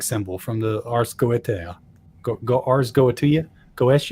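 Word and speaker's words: Ars Goetia: from the arseta go ars goatia goes. I don't know how to pronounce it. A R S G O E T I A. Ars goatia, I think, is probably what it is.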